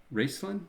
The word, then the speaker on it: Raistlin: It's Raistlin, I believe is how you say his name.